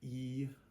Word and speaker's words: ei: okay next we have eii and eii is just pronounced like the name of the letter A or a long a it's just a a